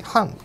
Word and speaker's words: 漢: これはですね 2020 年発売の BYD ハン、漢字の漢って書いて半って読むんですが、